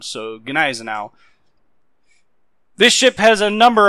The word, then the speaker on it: Gneisenau: It is pronounced Ganisenowl. The G does have a hard sound and the EI makes an I sound. So Gizenowl.